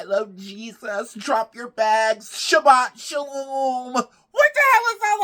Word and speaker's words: Shabbat shalom: I'm sorry to the Jewish community if I'm not pronouncing it right. Shabbat shalom.